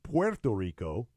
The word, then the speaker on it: Puerto Rico: Puerto Rico I mispronounced player Tillery it's properly pronounced Puerto Rico where the W Clarke though people say Porto